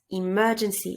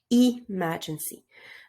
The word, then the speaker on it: emergency: need to pronounce it emergency exit i insist on the first syllable that you don't pronounce emergency but emergency and you don't really